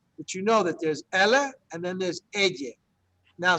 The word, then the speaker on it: ella: America or de España, they say ella, ella. So it almost sounds like that yes sound is like a Z, like a Z, ella. It's not incorrect, it's just a different way of pronouncing it.